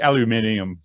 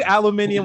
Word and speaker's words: aluminium: don't know just definitely they they pronounce it differently over the puddle there like aluminium i say aluminium when i'm referring to a periodic table and i'll say aluminum what i'm talking about